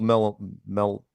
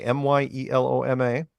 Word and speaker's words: myeloma: He'd been diagnosed with multiple melanoma. Melanoma? Yeah, but it's not. No. It's spelled differently. Myeloma.